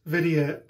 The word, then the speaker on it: Vidyut: other youtubers it's pronounced video like jc is an idiot so rhymes with idiot video supermax platinum blades